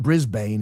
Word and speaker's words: Brisbane: Don't you say that, Brisbane? It's not Brisbane. It's Brisbane. You guys are like the Brits. You don't pronounce all your letters.